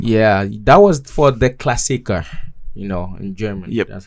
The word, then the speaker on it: Klassiker: Yeah, that was for the Klassiker.